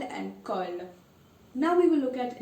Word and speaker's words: colle: Well, there's no change. So you will pronounce it exactly as it is. No Y sound, okay? So, example, balle means a ball, balle. And you have colle, which means glue, so colle.